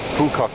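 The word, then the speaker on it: Phú Quốc: Apparently you pronounce the PH really loud. Phu Quoc Island in the rainy season.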